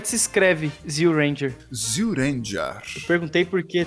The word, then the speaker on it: Zyu Ranger: Só muda a pronúncia, Zyu Ranger.